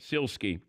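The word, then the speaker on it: Sielski: Jerry Krause and the column is this Mike Celski by it's pronounced heel ski SIL ski yeah he's the head head columnist now for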